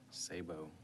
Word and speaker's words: Sabo: is correct and actually you pronounced it as they did at Ellis Island so you had it right uh children risk supports this bill my name is Sabo I am here uh